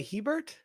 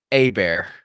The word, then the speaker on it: Hebert: tulas all right chaon I would say Hebert yeah no it's pronounced down here a bear cause because we have bit we a bit of the French we got the little pompus French accents out here yeah